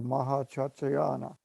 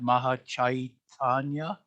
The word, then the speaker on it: Mahachaitanya: sometimes termed superconsciousness or Mahachachayana. Sorry about that. Did I pronounce that right? Don't know really, but I believe it's something like you said, Mahachaitanya.